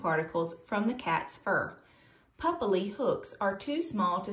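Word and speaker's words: papillae: A cat's tongue has a lot of small bumps on it called, I had to look up how to pronounce this word. It is papilli, papilli.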